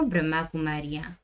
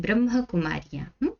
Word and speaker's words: ब्रह्मा कुमारियां: वो ब्रह्मा कुमारियां हैं, एक्चुअल में वो कह देते हैं ब्रह्म कुमारियां। कई लोग भी मिसप्रोनाउंस करते हैं। एक्चुअल में ब्रह्मा के संतान ब्रह्मा कुमारियां, ना कि ब्रह्म कुमारियां।